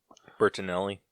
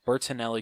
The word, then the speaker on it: Bertinelli: to the fortune of the bert bert-- elite Bertinelli burton thank you Bertinelli crime family I'm killing us once again I